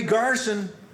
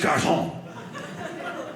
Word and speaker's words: garçon: I said, hey, Garson. Delightful guy. Yes, Garçon. I said, okay, Garçon.